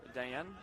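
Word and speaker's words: Dajan: There's a J in the middle of Dayan, although you of course don't pronounce it like that.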